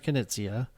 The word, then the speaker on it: Knizia: But we're going with Reiner Knizia.